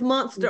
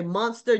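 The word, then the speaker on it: Münster: Did I pronounce that right, Paul? Munster. It's Munster. Okay, Munster, Germany, to meet with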